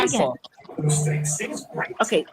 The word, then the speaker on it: Montauk: That's what you're gonna be going into Montauk, all right?